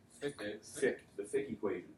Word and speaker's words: Fick: Starts with an F, rhymes with ick. Fick, the Fick equation, right?